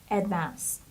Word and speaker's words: advanced: the next word is advanced advanced this stress the stress is on the second syllable so it's Advanced and the Ed here we pronounce it like T Advanced it means highly